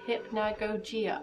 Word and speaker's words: Hypnagogia: is derived from the title hypnagogia and you pronounce it hypnagogia ah well i've been pronouncing everyone this whole